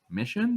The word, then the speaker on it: Missiaen: I wasn't sure how to pronounce it until I saw a video, and I was like, wait, Mission? That's it?